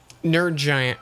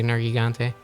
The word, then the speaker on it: Nergigante: Nerd Giant was the the go-to for pronunciation for a while. Now I just say Nergigante.